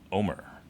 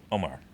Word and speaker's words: Omar: Omar. Omar. Real quick. Instead of Omar. It's almost like it's one syllable when they do it.